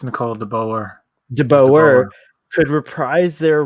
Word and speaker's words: Nicole de Boer: has and terry pharrell and uh um uh nicole de bear is that how you say her name i thought it was i think it's nicole de boer de boer could reprise their roles you could